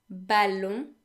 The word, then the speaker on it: ballon: They all end in O-N, which in French makes the vowel sound n. This sound doesn't exist in English, so just so you know, the way it's pronounced is pretty much like the sound O, but instead it is nasal.